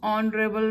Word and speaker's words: honorable: He is dash honorable man. Word starts with consonant H, but H is silent. It sounds honorable man.